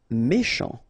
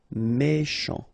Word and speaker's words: méchant: Méchant. Final T not pronounced. C-H together. Sh. Méchant.